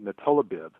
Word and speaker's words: nilotinib: And supposedly the claims is that this it's spelled Nilotinib, so natolabib.